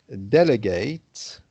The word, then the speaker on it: delegate: if it was the verb, for example, to delegate, okay, when you're delegating responsibility, which is the quality of a good manager to be able to delegate well responsibility to the different members of the team, then here the ate at the end is pronounced ate instead of ut.